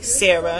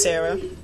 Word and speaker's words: Shara: And that's Sarah. It's pronounced Sarah.